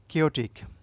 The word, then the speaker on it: chaotic: কেওটিক, CHAOTIC, উচ্চারণটা হবে কেওটিক, Bangla অর্থ বিশৃঙ্খল, অগোছালো।